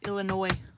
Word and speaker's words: Illinois: Oh, okay. Illinois. The S is silent.